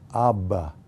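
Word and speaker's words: אבא: is for this word the hebrew word is pronounced abba you probably recognize that word right it's the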